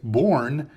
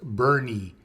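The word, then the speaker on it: Boerne: But people pronounce this Born, and it's not Born, it's Bernie. Bernie.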